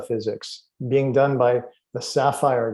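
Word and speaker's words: SAFIRE: being done by the sapphire group that's spelled s-a-f-i-r-e the sapphire group who base their research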